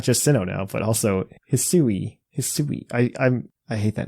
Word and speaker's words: Hisui: Not just Sinnoh now, but also Hisui. I hate that name. It is not easy for English speakers to pick up that pronunciation, I will admit. Hisui. Chop suey.